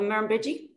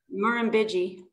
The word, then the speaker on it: Murrumbidgee: question I've ever asked anyone on the show pronounced River on Waga Beach the Murrumbidgee that is the weirdest word I've ever one of the weirdest words I've ever spelled say it again Marin biggie mahram biggie yeah it was a word that I could